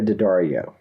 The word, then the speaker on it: Daddario: name again you said so well it's alexandria d'addario daddario okay this movie sparked that crush for